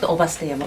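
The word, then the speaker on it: 姥捨山: So nowadays, so not Ubasteyama, Ubasteyama. It's a little different pronounce, Ubasteyama.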